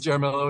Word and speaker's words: Jaramillo: I thought that they just couldn't say Jaramillo like you would pronounce a normal like Hispanic last name, and I was just feeling for the poor guy that was saying it Jaramillo. Well, it turns out that it actually is Jaramillo.